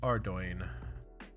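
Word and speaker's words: Ardougne: be worth it okay ardoin I always find it funny that people make fun of the way that I say are doing it's technically correct that's technically like that's how the developers pronounce it as ardoin but uh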